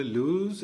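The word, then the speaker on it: lose: പറയുന്ന പോലെ പക്ഷേ ഇവിടെ വെർബ് ആയിട്ട് ഉപയോഗിക്കുമ്പോഴും നമ്മൾ ലൂസ് എന്ന് തന്നെ ധൈര്യം പറയണം ലൂസ് ലോസ്റ്റ് ലോസ്റ്റ് നഷ്ടപ്പെട്ടു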